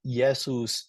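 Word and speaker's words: Iesus: letter J and W J is replaced by I in Latin and W is like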